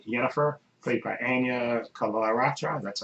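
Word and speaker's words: Anya Chalotra: There's a character in it, a sorceress called Yennefer, played by Anya Kalaratra. That's how you pronounce her name.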